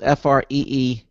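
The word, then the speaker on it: Freedome: And Freedom is spelled F-R-E-E-D-O-M-E. Dome, like free dome, okay.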